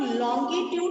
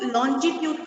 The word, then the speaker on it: longitude: इनको हम लोग लॉन्गिट्यूड बोलते हैं. Very nice. लेकिन एज अ न्यू इसको लॉन्जिट्यूड कहा जाता है. New concept which is being given by CBSE also, that we have to pronounce it एज अ लॉन्जिट्यूड.